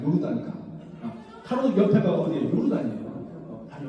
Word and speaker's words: 요르단강: 이렇게 전부로 요단강이라 해요. 그것을 갈릴리 호숫가에서부터 쭉 물줄기가 내려오면서 사해까지 내려오잖아요. 이 강을 요단강이다. 우리는 요단강이라고 하지만 본래 발음은 요르단강이다. 요르단강.